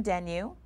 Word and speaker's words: Denyeau: Miriam Denyeau, I don't want to say rhymes with menu, but it does.